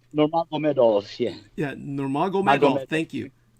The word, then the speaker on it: Nurmagomedov: I'm usually very good with the Slavic names, but this man is, after all, Dagestani, and so it's Nurmagomedov. Nurmagomedov, yeah.